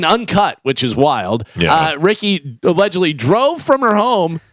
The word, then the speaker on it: Ricqui: By the way, her name is spelled Ricqui. Ooh, Ricky.